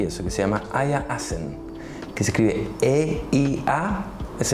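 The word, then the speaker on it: Asen: Hay un autor que no ha publicado muchísimo en términos de libros y eso, que se llama Aya Assen, que se escribe E-I-A, es el nombre, y el apellido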